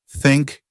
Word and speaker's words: think: The trick is to put your tongue between your teeth and blow air out like this. Hank hiss. Let's practice. Julia, say think and this correctly and I'll say the wrong way.